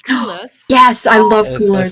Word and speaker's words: Coolors: colors, which is called Coolers. Yes, I love Coolers. It's called what, sorry? Coolers. It's spelled Coolors.